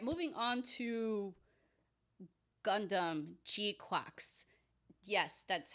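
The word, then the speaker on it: GQuuuuuuX: All right, moving on to Gundam Gquax. Yes, that's how it's pronounced if you haven't watched the anime yet, which is airing on Prime.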